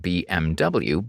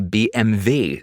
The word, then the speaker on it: BMW: another german lesson um when you say bmw in english it sounds like bmw but in german they say bmv so the w is